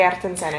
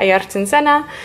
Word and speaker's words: Ayrton Senna: So Jules is painting him this picture of Senna because he loves Ayrton Senna. Is that how you say his name? Ayrton Senna, yeah. Ayrton Senna.